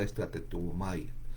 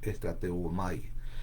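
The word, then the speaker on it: strateuomai: Viene de, obviamente, todo el Nuevo Testamento fue escrito en griego, así que en el griego se usa la palabra estrateumai, otra vez lo voy a pronunciar, estrateumai, ¿ya?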